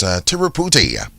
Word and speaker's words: Tiruputi: Just before we do so, would like to remind you of your Kalinago word of the day for today, and that's Tiruputi.